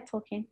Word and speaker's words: Tolkien: quote from I don't even know how to pronounce his name in English. It's Tolkien. How do you say his name? Yeah, Tolkien.